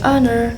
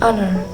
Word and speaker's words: honor: If the H is silent like in the word honor, we use N. So we say an honor even though it looks